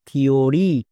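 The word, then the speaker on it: theory: এর উচ্চারণ কি হচ্ছে, থিওরি।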